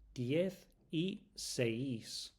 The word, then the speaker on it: diez y seis: Diez y seis. You see the I in there? We don't pronounce that I.